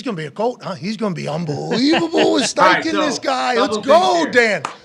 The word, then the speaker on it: Steichen: Steichen, bro. Not Spikeman. Spikeman is how Gronk introduced him.